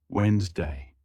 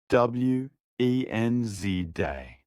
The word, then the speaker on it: Wednesday: Wednesday. Correct? W-E-N-Z day. The D is silent.